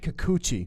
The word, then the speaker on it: Kikuchi: Kikuchi. Is it Kuchi? Kikuchi. Kikuchi.